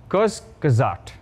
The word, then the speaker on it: Kurzgesagt: The channel Kurjus, I don't know how to pronounce them. Whatever, great channel. Kurzgesagt, yes.